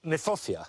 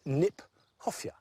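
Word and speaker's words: Kniphofia: I like the fact that Nyphofia, which is an awkward word, not an easy word to say, in fact is mispronounced. We should pronounce it Nyphofia, because it was named by Johann Hieronymus Nip.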